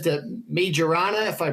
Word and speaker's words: Majorana: Microsoft says that Majorana, if I pronounce it correctly, too.